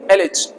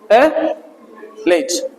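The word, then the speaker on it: allege: वाले को बोलेंगे एलज अ लेज ठीक है ना एलेज एलेज ठीक है ना चाहो तो इसको ए भी बोल सकते एलज ठीक है बट ठीक है अलज बोलो एलज ठीक है ना दोनों तरीके से ठीक अभी आपका लेवल य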